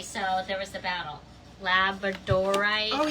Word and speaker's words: labradorite: Somebody somebody in Tucson was trying to tell me that we were we were all saying it wrong. Everybody in America was saying it wrong and we should be saying it as um Labradorite. Labradorite rather than labor.